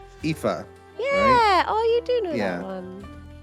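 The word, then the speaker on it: Aoife: you spell you uh pronounce the name a-o-i-f-e chat IFA yeah oh you do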